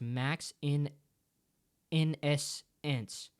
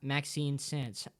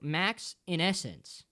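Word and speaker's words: Maxinessence: Also, RP, my user is pronounced Max in essence. Not Maxine Sense. Oh, Max in essence.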